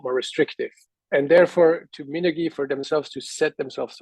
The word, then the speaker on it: Minergie: And therefore, to Minergie, for themselves to set themselves apart, they were also getting stricter and stricter. The rules became harder to achieve. I'm sorry, it's In Minergie, general, not Minergy.